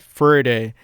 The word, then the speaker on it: verde: For instance, to remember that verde, pronounced somewhat like birthday, which itself sounds like birdie, is green in Spanish, I imagine green grass.